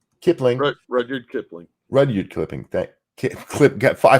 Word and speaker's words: Kipling: Kipling.